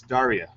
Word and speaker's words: Daria: if he gets right it's Daria oh area yeah corrective so properly welcomed butcher